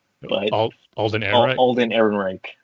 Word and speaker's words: Ehrenreich: Alden Ehrenreich, right? Is that how you say it? Yeah. Alden Ehrenreich.